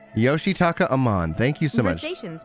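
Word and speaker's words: Yoshitaka Amano: and you're probably going to hear me yoshi yoshitaka amman yoshitaka amman thank you so much stations between produce all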